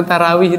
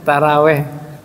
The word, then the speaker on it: tarawih: Mau tarawih di mana nggak? Taraweh, betul ya? Bahasa kitabnya tarawih, Mbak.